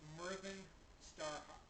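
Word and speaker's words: Myrddin Starhawk: t a r h a w k it's pronounced Merin Starhawk the DV is pronounced th well part of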